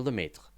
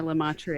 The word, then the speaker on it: Lemaître: yeah, all my American comes out on that one. Is that how you say it? That is the Wow. Americanized pronunciation. Yep. We pronounce all of the letters Yep. because it's not lieutenant.